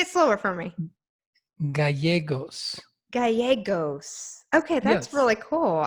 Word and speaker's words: Gallegos: Gallegos. Gallegos? Gallegos. In Spanish, it's a Spanish name, beautiful Spanish name. Gallegos. I like No, that. no, no. In Spanish, 2 L's are always pronounced as a Y.